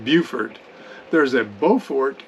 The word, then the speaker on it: Beaufort: chain just outside beaufort south carolina and it's pronounced beaufort there's a beaufort spelled exactly the same in